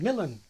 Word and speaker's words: Milan: as I thought was Milan thrust from Milan but in more Modern English we put the stress where it is in Italian on the second syllable I say Milan as recently as the